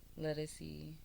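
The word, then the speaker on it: Ledisi: Ledesi.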